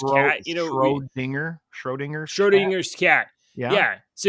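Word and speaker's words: Schrödinger: you say schrodiger's yeah you know Road finger Schrodinger Schrodinger's cat yeah yeah so you could it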